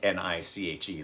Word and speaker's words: Nitch: have to do is look up the niche n i t c h i think is how he's better he didn't spell it niche like n-i-c-h-e like it would be it's n-i-t-c-h niche design ingress um no single-sided